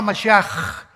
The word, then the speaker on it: Mashiach: sea, Jesús el Mesías, se escribe Mashiach, Jesús el Mesías en el hebreo, pero se pronuncia la CH, Yeshua Mashiach, y siempre pronuncian dándole mucho énfasis a la palabra J en el hebreo.